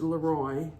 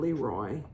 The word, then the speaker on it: Leroy: And it is pronounced Leroy by people who live there, not Leroy.